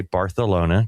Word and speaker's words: Barcelona: spring break, he is on his way to Barcelona, Spain, to spend it with some friends who are studying overseas for a semester. That's how Jimmy Grace ends up in Barcelona. And yes, I did say Barcelona, cuz that's how you say it.